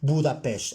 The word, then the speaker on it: Budapest: pronounce it people budapest my hungarian friend andre taught me how to pronounce it buddha pesh and that's how you